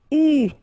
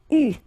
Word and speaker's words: eu: And this is pronounced, so it's an exception because normally you should pronounce it differently, but, so it's an exception. It is pronounced U, okay? U, that's the way you should pronounce it.